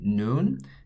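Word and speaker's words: 눈: So all I need to do is put the final letter that corresponds to the N sound here, and it's going to look like that. This would say noon, and this actually translates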